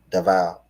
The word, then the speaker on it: Davao: Did I pronounce that right? Davao.